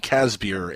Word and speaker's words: Casebier: course the lovely stephanie casbier am i pronouncing your last name right by the way casper that it uh it's actually pronounced like a case of beer that's awesome are you